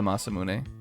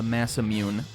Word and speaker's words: Masamune: I think that one's the Masamune. Or as everybody who played RPGs when they were like young, the massammune.